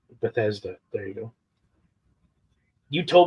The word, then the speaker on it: Bethesda: I can never pronounce it. You told me the other day, and I still can't do it. Bethesda. Bethesda. Bethesda.